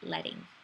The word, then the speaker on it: leading: know it reads out leading but it's actually pronounced letting okay so classifications of type we have calligraphy